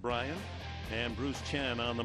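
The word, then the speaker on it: Brayan: Brian Pena, it's pronounced Brian, and Bruce Chen on the mound, the veteran right-hander.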